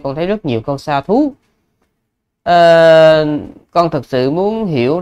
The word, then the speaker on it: sādhu: status đấy cái từ nó là như vậy Xa thú dh chưa phải là Th i ý Thì